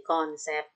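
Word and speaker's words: concept: kong kong kong, jadi konsep, ya. Oke, sekarang nggak susah lagi karena kalian udah tahu triknya, ya. Jadi sekali lagi bukan kon tapi kong, konsep, konsep.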